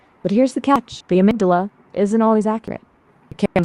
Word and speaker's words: amygdala: I think it pronounced it wrong. Its spelling is Amygdala. I think amygdala. Right? You got it.